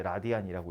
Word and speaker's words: 라디안: RAD라고 썼는데 읽을 때 라디안이라고 읽습니다.